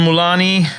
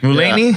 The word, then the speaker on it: Mulaney: Uh, John Mulani, is that how you pronounce his name? Mulaney.